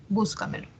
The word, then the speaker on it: Búscamelo: Entonces vemos aquí que la mayor fuerza de voz está en la anterior a la antepenúltima sílaba. Búscamelo.